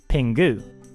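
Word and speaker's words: ピング: large communal groups the title has written this pronounced pingu instead of the usual Japanese word for penguin pink in the most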